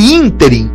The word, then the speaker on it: ínterim: é proparoxítona aryadh neste nesse ínterim inter proparoxítona ea flora crisântemos e